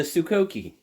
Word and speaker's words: Sokoke: This is the Sukoki. Now, you might say, "Why'd you pronounce it like that?